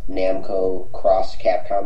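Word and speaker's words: Namco × Capcom: One is Namco Cross Capcom, as it's correctly pronounced.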